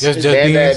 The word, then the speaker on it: Beanz: Do we say Almighty or Almighty Beanz? Just Beanz.